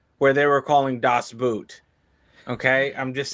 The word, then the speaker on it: Boot: So this word is spelled the same in English and in German, but it's pronounced differently and has a different meaning. In German, it's pronounced Boot, and it actually translates to boat.